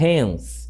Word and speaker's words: hence: Eu utilizo, quando vocês se depararem com a palavra em língua inglesa com inicial em H, ela vai ter som de R, muito provavelmente. Portanto, eu vou falar hence aqui.